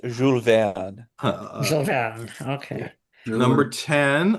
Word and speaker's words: Jules Verne: It's only correct if you pronounce it correctly. It's Jules Verne.